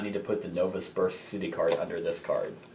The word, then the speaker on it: Novosibirsk: Remember, you do not need to put the Novosibirsk city card under this card. Okay, so we just need to acquire target in Novosibirsk.